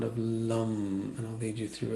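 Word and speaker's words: लं: So the first chakra, the mantra it's spelled L-A-M, but sounds like L-U-M, lum. L as in Larry, U-M.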